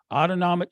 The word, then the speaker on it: autonomic: the autonomic nervous system autonomic rhymes with automatic our breathing our heart